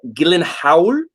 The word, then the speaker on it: Gyllenhaal: we're talking about jake gyllenhaal or is uh i learned from a talk show appearance that he had uh gillen howard because he's swedish uh so apparently everybody says his name wrong and he's just like